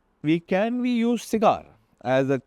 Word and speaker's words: CIGAER: By the way, cigar is spelled as c i g a e r but we pronounce it as cigar.